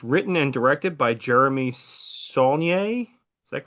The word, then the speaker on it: Saulnier: It was written and directed by Jeremy Saulnier. Is that correct I pronunciation?